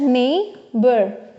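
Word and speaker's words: neighbour: ई आई जी एच नेबर ठीक है ना सो देखेंगे यहां पे ना कि जी एंड H will not pronounce as घ ठीक है ना देयर इज नो घ साउंड इन इंग्लिश ठीक है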